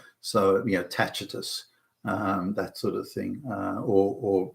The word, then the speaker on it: Tacitus: For example, in Latin, it used to be that the letter C was hard pronounced as a k. So, for example, Tacitus would be pronounced Tacitus in the old Latin.